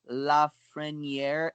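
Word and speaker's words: Lafrenière: figured out yeah yes it looks like the tongue consensus is Alexis laughs friend year and Quinton Byfield yep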